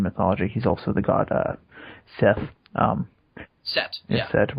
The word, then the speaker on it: Set: he's also the god Seth. Set, yeah. Set. Well, some people pronounce it Seth for some reason. Which is stupid.